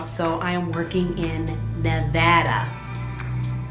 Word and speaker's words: Nevada: It's because I got a new job, so I am working in Nevada. Not Nevada, which everyone calls it. It's called Nevada.